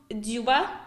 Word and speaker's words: Дзюба: Артем Дзюба. Да, правильно да, произношел. я все правильно сказала, Вот, Артем.